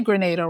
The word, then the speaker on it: Grenada: you don't mind they reference the island of Grenada which is where my husband is from and it's always interesting to see that not only did they say Grenada right pronounced it correctly which oftentimes people don't pronounce